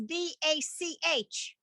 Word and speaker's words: Bach: digressing for a moment there's a composer his name is b-a-c-h how would you pronounce his last name alyssa i'm gonna call on you you're in here bach that's what this sound is the ha sound at the end of a word can i ask a